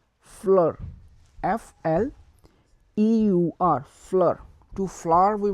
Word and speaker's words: fleur: So F will be pronounced similar, but we will put some pressure on saying that, like F, F. So to flower we will say fleur, fleur, F-L-E-U-R, fleur.